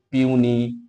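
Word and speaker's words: puny: পিউনি offspring পিউনি very very important word পিউনি উচ্চারণটা হবে পিউনি।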